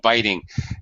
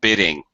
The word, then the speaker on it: biting: If for some reason there were two T's here, B-I-T-T, then this first vowel would be short. So it would have to be nail biting, as you guys were trying to say it. But since there's only one T, that indicates, with this ing, that indicates that this I is a long sound.